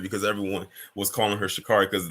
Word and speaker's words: Sha'Carri: She said, no, my name is Sha'Carri. So I'm trying to change how I say her name, because I always say Sha'Carri.